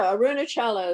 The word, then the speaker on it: Arunachala: ramana maharshi is an indian who is there arunachala and aruna yes exactly however you pronounce it have you been there i'm from boston so i don't know how to say those words no no arunachala is right and uh i was just i'm